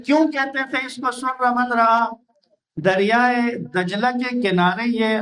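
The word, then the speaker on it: سر من رأى: تھے۔ سر من رعا، ہم اپنے بچپنے میں اس کو سرمن رائے پڑھا کرتے تھے۔ ہم اس کو نا سرمن رائے کہہ کر، کیونکہ ہمارے اردو تلفظ میں جو لکھا ہوا وہ سرمن رائے ہی تھا، لیکن بعد میں جب عربی سے آشنا ہوئے تو پتہ چلا کہ یہ لفظ ہے سر من رعا، یعنی دیکھنے والی آنکھوں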